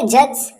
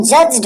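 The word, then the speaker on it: judge: यू डी जी ई अगर pronunciation के हिसाब से देखे तो लेटर टू लेटर प्रोनंसिएशन करेंगे तो जज्ड हो जाएगा लेकिन ऐसे नहीं हम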